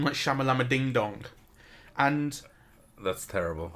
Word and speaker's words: Shyamalan: to be sure, and I'm pretty sure it's Shyamalan as we've been saying it.